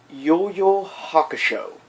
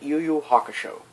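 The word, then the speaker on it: Yu Yu Hakusho: from the anime series yoyo hakusho or hack it should well have you one pronounced yuyu hakusho um he is the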